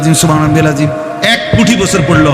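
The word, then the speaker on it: سبحان: সুবহ সুবহানা রব্বিয়াল আজিম সুবহা এখানে বার মধ্যে কলকলা হইতে হবে সুবহানা সুবহানা আজিম এক কোটি বছর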